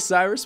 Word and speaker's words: Cyrus: It’s spelled like “Cyrus,” pronounced like “See Rooster,” just take out the “ter” Thank you very much for watching, and have a wonderful day!